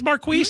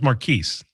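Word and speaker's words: Marqueece: city council president Marquis is that you say his name Marquis. That's correct. Oh, it is Marquis. Marquis. Oh, I was making fun of it. I thought it was Maris.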